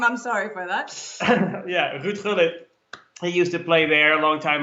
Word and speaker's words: Ruud Gullit: Haarlem, which actually at FC Haarlem is where Ruud Gullit, or maybe people know him as Ruud Gullit, or however you pronounce his name. We butchered his name. I'm sorry for that. Yeah, Ruud Gullit.